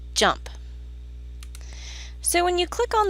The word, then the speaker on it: JMP: using in this course it's spelled JMP but is actually pronounced jump so when you click